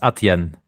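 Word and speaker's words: Adyen: Money portfolio allocation yeah so maybe we need to pronounce it differently it's aten aten yeah aten is like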